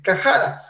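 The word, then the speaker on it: חרה: Ahora, cuando lo investigamos un poco, la expresión enojarse o airarse fuertemente, en extremo, ensañarse, es cajara. Es la pronunciación en hebreo, usted lo encontrará ahí en el diccionario, en el Strong, ¿sí?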